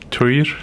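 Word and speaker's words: Týr: Oh, I always said Tyr too, but when I got over there, I tried to say it like I heard people saying it in the Faroese, which is like Tyr.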